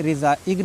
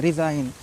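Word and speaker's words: resign: नहीं बोलना है इसमें रिजाइन बोलना है जी साइलेंट है ठीक है रि इगन नहीं बोलना है रिजाइन इसको सिगन नहीं साइन बोलना है क्यों क्योंकि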